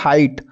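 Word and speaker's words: height: तो अगला आता है हाइट, हाइट में भी देख सकते हो GH हमारे क्या है, साइलेंट है, हाइट।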